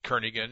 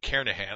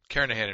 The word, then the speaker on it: Kernighan: will be using the kernigan and Richie or Kahan I should say the g is silent karahan and Richie C programming